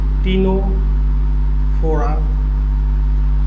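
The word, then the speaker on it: Ctenophora: দেখা যায় টিয়ে হচ্ছে টিনো ফোরা আর সি হচ্ছে কোলেন্টারেটা এক্সাম্পল কি এক্সাম্পল হচ্ছে ইটিসি সিই দিয়ে হচ্ছে একাইনোডারমাটা এডাল্টের মধ্যে দেখা যায় রেডিয়াল সিমেট্রি টি দিয়ে হচ্ছে টিনোফোরা এখানে সি হচ্ছে সাইলেন্ট হ্যা আর সি দিয়ে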